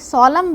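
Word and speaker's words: solemn: बहुत आवश्यक है बच्चों क्योंकि सोलम बोलते हैं और इसमें एन का प्रोनाउंसिएशन नहीं है। एन का उच्चारण नहीं करना है।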